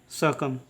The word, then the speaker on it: succumb: इसका उच्चारण करेंगे सकम।